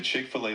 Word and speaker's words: Chick-fil-A: Chick as in chicken, fill like filet, and then A at the end.